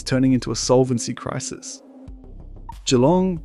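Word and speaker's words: Geelong: Jalong, pronounced Jong, is facing a downturn that cuts across nearly every suburb.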